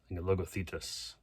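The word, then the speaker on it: Logothetis: name Demitri logo logothettis logo thetus logo thetus that's how you say his name but I believe he's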